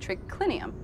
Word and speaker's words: triclinium: CL i n um in latin it's spelled as it sounds but here tricky lynnium